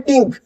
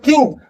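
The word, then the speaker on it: think: टिंक। इसमें कुछ भी आपकी जीभ प्रेशर नहीं कर रही। टिंक बोल के देखिए। लेकिन जैसे ही आप नीचे आओगे थिंक तो आप देखेंगे आपकी जो टंग है वो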